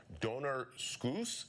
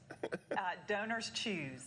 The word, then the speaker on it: DonorsChoose: Buffy, you guys are working with a company called Donor Scoos. Am I saying it right? Scoos? Donors Choose. Oh, Donor Choose.